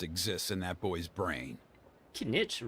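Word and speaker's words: Kinich: in that boy's brain can Nitch rhymes with spinach and he's also green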